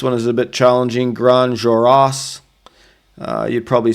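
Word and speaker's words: Grandes Jorasses: Grand juroras. Uh you'd probably say it grand jurasses. Grand Jurasses is probably an English way to say that, but it's actually grand. Uh again, you don't pronounce the s.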